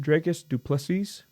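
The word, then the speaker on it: Dricus du Plessis: this so D how do you say it draus dupes yeah you said it right yeah so drus duples and Sean Strickland are set to fight for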